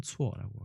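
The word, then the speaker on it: 错: 발음은 추어라고 아까 잠깐 발음을 해드린 적이 있고요.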